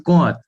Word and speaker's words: Comte: amigo Francisco pode ajudar Augusto Comte ou com que Francisco como é que se pronuncia Augusto Comte meu amigo Augusto conta era considerado é Professor